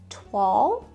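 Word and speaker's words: toile: try to say it right it is called twal i can laugh at myself i didn't know how to pronounce it i knew what it was but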